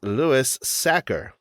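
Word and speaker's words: Louis Sachar: And today's episode, we are covering sideways stories from Wayside School by the author whose name is Lewis Sacker, which is a pronunciation that I had to look up and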